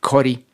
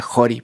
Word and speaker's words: Ccori: Pero por otro lado hay un gran proyecto en Perú que se llama Jori, creo que se pronuncia Jori porque está en alguna lengua nativa. Se escribe CCORI, que es de un chef increíble que se llama Palmiro Campo.